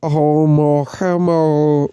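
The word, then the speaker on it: ʻOumuamua: The artist's illustrations show the wayward interstellar visitor Oumuamua, pronounced as Oumuamua, racing towards the outskirts of our solar system.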